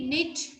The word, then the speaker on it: knit: Okay, so letter K is silent.